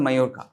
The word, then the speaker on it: Majorca: It's pronounced as Majorca.